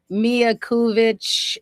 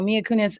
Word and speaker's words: Mia Kunis: did you see that story um about um mia kuvich and um mia kunis yes i always say her name wrong so mia kunis and um her husband they were talking about